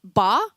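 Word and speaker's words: 八: Lucky in Chinese culture because it's pronounced ba and that sounds similar to the word fa which means fortune or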